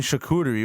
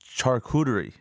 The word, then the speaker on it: charcuterie: you're not even saying it right. Okay, There you go. You're saying charcuterie. What the fuck is that? All How right? do you say it right? It's charcuterie.